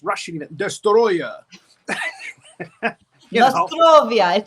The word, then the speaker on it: Destoroyah: Godzilla versus dya U and that's how they say it Destroyer that's how I say it too Destroyer Destroyer you know say Destroyer we say in yanas